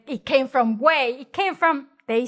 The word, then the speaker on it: güey: Güey, gu, e, o güey. Like the whey protein.